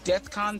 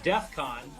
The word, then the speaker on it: Defcon: you ever looked up death Con 3 it's like it was Defcon exactly that's my thing he didn't even say it right it's like it's not